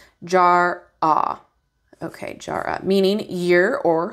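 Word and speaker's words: Jera: passed it all right yes it does okay pronunciation Jara okay Jara meaning year or harvest these are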